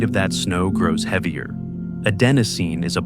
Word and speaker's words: adenosine: That molecule has a name, adenosine. Four syllables that contain the gradual dimming of every waking hour. Right now, as you listen to these words, adenosine is accumulating in the